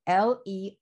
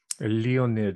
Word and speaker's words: Leonid: I'm going to spell it L-E-O-N-I-D. Okay. So Leonid. How would I pronounce that? Leonid, as in Leonid Brezhnev.